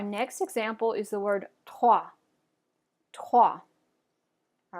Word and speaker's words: trois: All right, so our next example is the word trois. Trois. All right, so let's go ahead and try that. Fingers on your throat to make sure you're pronouncing that guttural R.